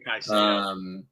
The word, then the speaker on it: Caicedo: I always forget how to pronounce his name. Saedo. I've said Caicedo. Yeah. I say Caicedo.